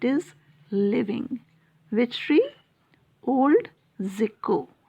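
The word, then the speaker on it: Tjikko: Old Zico. T is silent here. How do we pronounce? Zico.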